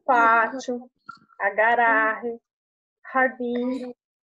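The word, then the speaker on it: jardín: No espanhol, o J, ele tem sonzinho de R, então fica jardim.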